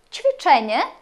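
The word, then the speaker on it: ćwiczenie: дещо пом'якшена літера че її ми промовляємо як ч наприклад чвічене вправа че чвіченя літера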